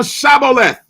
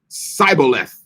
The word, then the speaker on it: Shibboleth: If he said nay, then said they unto him, say now Shibboleth. And he said, Sibboleth, right? For he could not frame to pronounce it right.